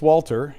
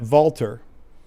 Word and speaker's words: Walter: And then uh in German you don't pronounce this Walter, you pronounce that Valter.